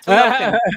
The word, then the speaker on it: Talokan: The Tolokans? Hmm. See, I wasn't trying to pronounce it. Talokan. Yes, you got it right. Oh, is that Talokan.